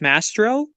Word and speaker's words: Mastrovv: yeah nastro yeah mastro the vs i i know are very uh very confusing but it's a w it's a w so it's mastro master owl just mastro but the the the